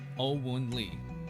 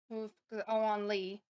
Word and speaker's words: Oun Lee: They collaborated with a critically acclaimed Korean producer Oun Lee who's behind the success of TVXQ and Stray Kids. Pablo, uh, you didn't pronounce that right.